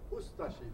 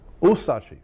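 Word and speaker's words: Ustaše: We pronounce it Ustashi. We pronounce the U and de-emphasize the Ashi. Ustashi. Ustashi.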